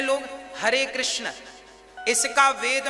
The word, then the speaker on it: कृष्ण: शुद्ध उच्चारण इसका क्या है? हरे राम हरे राम राम राम हरे हरे हरे कृष्ण हरे कृष्ण कृष्ण कृष्ण हरे हरे।